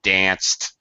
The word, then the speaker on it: dance: Dance, it doesn't have an S on the end, but it definitely has an S sound.